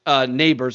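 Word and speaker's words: Nabers: Let's start with the Biletnikoff first, which he won on Friday night, and he won it by one vote over LSU's Neighbors. I think I'm pronouncing that correctly.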